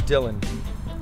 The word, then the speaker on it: Dylan: spit that hot fire my name is Dylan afterall pronounced properly like Bob Dylan though that year my